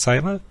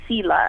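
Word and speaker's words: Selah: Is it Sailor? Pronounced Sailor? That's how I say it. I've heard people say Sela as well, but I think in Hebrew it's Sailor.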